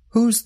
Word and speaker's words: who's: They are both pronounced with the sound of the letter Z at the end. Whose bag is this?